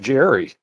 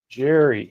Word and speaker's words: Gerry: Elbridge Jerry.